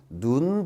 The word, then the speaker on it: 눈: 좀 말씀드리면 역어 보세요 여기 눈이라고 하는 건 무조건 짧게 발음 하는 거잖아요 눈 무조건 짧게 바랍니다